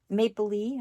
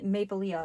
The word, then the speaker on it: Maplelea: this little sticker here Maple Le I said it right I for the longest time I was calling mapia but I have been corrected for my